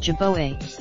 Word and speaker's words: jerboa: I now know it should be pronounced jerboa, but I didn't know that at the time."